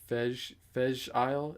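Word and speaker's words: Fèis Ìle: And they have every year they have their, I think it's pronounced Fej Isle. It's spelled Feis, I believe, Isle, but they pronounce it like Fej or Fez or some, I don't know.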